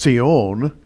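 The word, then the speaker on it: צִיּוֹן: times in the Bible as a word in Hebrew is pronounced see own and it means a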